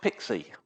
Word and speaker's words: PKCE: Let's start with PKCE, which is pronounced Pixie, because PKCE is a little bit of a mouthful.